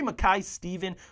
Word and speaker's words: Mackay-Stevens: Gary Mackay-Stevens from Dundee United as well, the Scotman, that's how you say it.